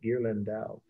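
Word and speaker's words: Ghirlandaio: italian last name sorry i'll spell it slowly gear landau that's d g as in you know good g h i r l a n d a i o is pronounced gear lindau 1480 this is a secular painting so that's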